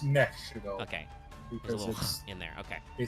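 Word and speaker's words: Nephe Shaddoll: It might just be Shadal, or it might be like Shadal. No, it's Nef. It's Nef Shadal.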